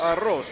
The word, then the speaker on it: arroz: Arroz, there you go.